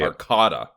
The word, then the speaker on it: Arcata: Arcata so the the the pronunciation is actually a r Dash k a w Dash d-a so I think they want you to say Arcata Arcata no [ __